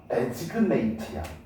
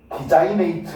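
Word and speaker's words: designate: 유네스코에서 지정된 얘들아 이거 발음 잘해라. 데지그네이트야. 디자인이네이트 뭐 이렇게 발음하던데? 아니야. 됐니?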